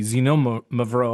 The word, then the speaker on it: Xinomavro: me also how to say the word correctly, Xinomavro.